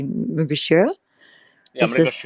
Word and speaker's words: Mrigashira: Gemini, back to, how do you say correctly, Mugashira? Yeah, Is this, Mrigashira.